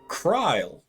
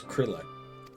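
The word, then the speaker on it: Krile: alive thank the 12 so that's how you pronounce it cryle I always thought it was Krill okay I see pray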